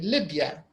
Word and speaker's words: Libya: stressed so for example when you say Libya we don't say the BIA we say Libya so the first the first part is trust the L part Libya lib is trust yeah is not stressed